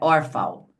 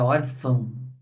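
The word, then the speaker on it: órfão: E ele é nasal porque a gente põe o tio para dizer justamente que o som deve ser emitido pelo nariz. Não é orfal, é orfão. Muito bem.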